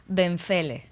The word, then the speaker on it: Benfele: Benfele. Benfele. There you go. Did I say that right? You have that pronunciation.